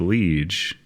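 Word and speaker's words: Liège: Liege waffles? It is spelled like liege, but it has a little accent over the E. Liege. But it's over the middle E.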